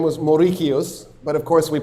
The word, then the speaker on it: Mauricius: Maurice. How do you spell Mauricios? Morris. Moricios is so much better.